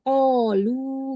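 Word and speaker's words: قالوا: Dia kalau berhenti dia menjadi ketika wasol di wakof baca berhenti, dibaca panjang, ketika wakof berarti qalu gitu saja. Nah, jadi bukan qalu, bukan ya, tapi qalu gitu.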